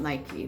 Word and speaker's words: Nike: Like Nike, right? You ever look up that? I think it's a god. Nike. It looks like it's spelled Nike, but it's Nike.